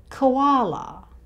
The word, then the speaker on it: koala: We shorten even this O sound to just the schwa sound, k, koala. And like kangaroos, the plural koalas has the Z sound at the end here. The sound before the plural S is a vowel sound, the schwa sound, so the plural S here sounds like a Z.